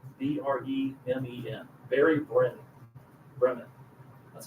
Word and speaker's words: Bremen: Barry Brennan, Bremen.